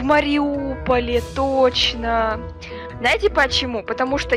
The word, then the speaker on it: Мариуполь: Ну да, у Маринки 7 букв, а у Мариуполя 8, но мягкий знак не читается. Получается «Мариупол» и «Маринка».